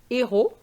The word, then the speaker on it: héros: Now, I use héros. Even though it's an H, the word begins with an H, but the H is silent, so we have a vowel sound.